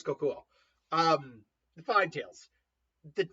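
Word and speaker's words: Kokuō: And then K uh Kokui, I can never pronounce his right. It's not Koku. Is it Kokuo? I think it's Kokuo.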